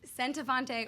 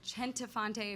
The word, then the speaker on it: Centofonte: It is Centofonte or Centofonte if you're Italian, and I joke that it means my husband is a better cook than me.